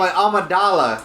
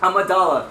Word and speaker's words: Amidala: Oh, And- Amidala. Amidala, yeah.